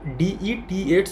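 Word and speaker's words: debts: এখানে এই বিটা কিন্তু উচ্চারণ হয় না, ভালো করে মনে রাখবে। এখানে DETS উচ্চারণ হয়, যেটা ডেট মানে তোমরা তারিখ জানো সেই একই।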